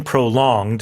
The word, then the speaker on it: prolonged: So, uh the pronunciation prolonged, uh the stress is on the second syllable.